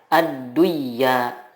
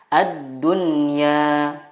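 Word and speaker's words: الدنيا: Contohnya ad-dunya, tidak dibaca ad-duyya, tetapi yang benar adalah ad-dunya.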